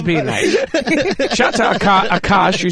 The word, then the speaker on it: Akaash: Akaash. Say it. Akaash.